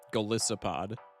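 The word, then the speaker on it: Golisopod: Galissopod. This is not a bit. Just read, bro. Read the word how it's spelled.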